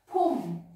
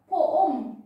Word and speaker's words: Pum: Teacher, would I wow poom? No. Because if I'll say poom, that is two syllables already. But we are saying his name is Pum. So it's just only one syllable, yes?